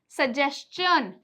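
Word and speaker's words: suggestion: जैसे कि मैंने आपको पहले भी बताया एस टी आई ओ एन यह क्या बन जाता है? चन बन जाता है। यह क्या बनता है? चन बनता है। और उसी जगह टी आई ओ एन क्या बनेगा? शन बनेगा। तो इसका एग्जांपल देखिए। सजेशन सजेशन।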